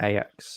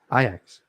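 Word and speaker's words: Ajax: Manchester United no no IX you know you didn't say that you said ax did I no yes you did yep come on pronounce it properly IX um but yeah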